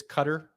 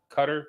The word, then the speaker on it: Qatar: between both of you a lot of people call it cutter but it's qatar so i believe the cutter came from when they actually announced it that's how the locals say it so people started catching